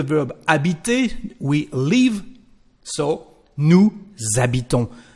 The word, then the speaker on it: nous habitons: So, nous habitons. The letter S becomes the sound Z or Z.